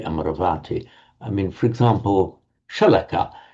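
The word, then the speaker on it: Amarāvatī: abode of immortality, and with the a lengthening before that v, not Amaravati, but Amaravati. Many of you, of course, will be familiar with Amaravati monastery in England. Never ever pronounce it Amaravati. Ugh, that's awful. So many people do.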